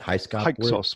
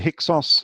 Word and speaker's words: Hyksos: Hyksos. Well, some people call it the Hyksos. Manetho says you can pronounce it either way, so I call it the Hyksos.